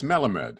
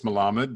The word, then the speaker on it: Melamed: do i pronounce it it's melamed it is an element it is melamed i mean properly it's malamad as you said yes with sephardics like